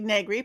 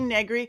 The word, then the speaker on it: Negri: because I always go, it rhymes with nothing. My entire life, decades going, Negri rhymes with nothing. And it's a weird name that people get, how do I say that name right? I used to was able to say Begley, rhymes with Ed Begley, who's an actor and